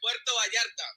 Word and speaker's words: Puerto Vallarta: Yeah, Puerto Vallarta.